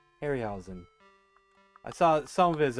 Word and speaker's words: Harryhausen: Yeah, I eventually got around to watching some more of a Harry, how do you pronounce his name? Harryhausen? Harryhausen.